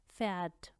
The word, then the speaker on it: Pferd: PF जब इकट्ठा हो तो उसमें पी साइलेंट हो जाता है और हम सिर्फ फ साउंड देते हैं। Zum Beispiel Pfeffer, Pferd, Pfeffer, Pferd।